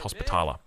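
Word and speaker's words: Hospitaller: It looks like we've got the Templar Knights that have come through or the Knights Templar sorry Knights Hospitala uh is is the correct way to pronounce that.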